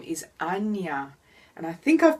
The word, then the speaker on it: Ajna: texts that are available Anya of course English-speaking peoples like Australians like me might say ajna or you know to put an emphasis on the letter letter J I think brow chakra